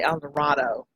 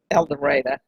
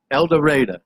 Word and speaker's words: El Dorado: And it is pronounced that way, even though most people would say El Dorado. But we're Southern and, we're stubborn. And so we call it El Dorado. El Dorado.